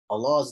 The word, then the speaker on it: الله: When Allah's name has a dhamma before it or fatha before, we say Allah.